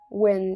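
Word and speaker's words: Nguyen: most famous during the Win Dynasty, the last imperial family of Vietnam.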